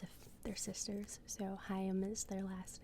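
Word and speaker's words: Haim: because it's um it's a they're sisters so hayam is their last name so in the skit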